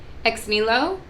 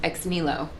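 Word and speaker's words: Ex Nihilo: up but this is it's spelled e-x n-i-n-i-h-i-l-o but i believe it's pronounced x-nilo so i do need a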